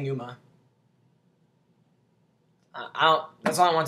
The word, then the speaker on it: pneuma: u m a and it sounds like Numa but if you look at this like regular I'm talking about regular like I know you can't see it but it's like it says it looks like PE Numa but it's really saying Numa I that's all I